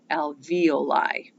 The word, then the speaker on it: alveoli: sac is called an alveoli that's how you pronounce it alveoli so again when we look at how the